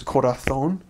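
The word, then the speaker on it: corazón: But it means whenever there's a C or a Z letter and the C makes a S sound, then you pronounce it kind of as we would in English the almost. So an example is um heart is korathon, shoe is tapato and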